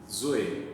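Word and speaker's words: ζωή: lá é dizoe, D-Z-O-E, zoe, né? Zoe. Até tem um grupo aí de música, não tem? Zoe, né? Zoe, é a mesma coisa, zoe, é que na pronúncia é zoe, né?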